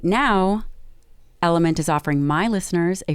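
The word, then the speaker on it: LMNT: of our sponsors at element and that is spelled l m and t this is an amazing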